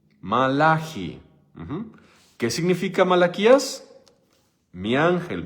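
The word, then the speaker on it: מלאכי: Entonces, te pregunto, ¿cómo se dice Malaquías en hebreo? Malaji.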